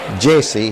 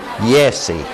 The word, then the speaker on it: Jesse: lived nearby in fact pronounce my name Jesse he said yes he and Electr oh wow it kind of seemed a little nice to have somebody told me Yesi it seemed kind of